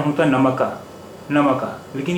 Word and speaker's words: नमक: काफ साकिन से मतलब होता है कि इस पर जज़म है, इस पर ज़बर नहीं है, क्योंकि अगर इस पर भी ज़बर होता तो इस लफ्ज़ का उच्चारण या प्रोनाउंसिएशन या तलफ़ुज़ होता नमका, नमका।